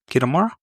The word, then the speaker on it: Kitamura: Kitamura.